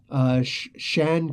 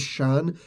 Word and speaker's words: Xi'an: and I apologize but I do know that the ex I ' a n is Shan because they actually do sound it out and pronounce it in other ways but yeah that's really